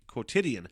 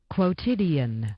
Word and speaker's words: quotidian: Quotidian. I fucking nailed it. I think I might have inadvertently seen the fucking pronunciation, but... Quotidian.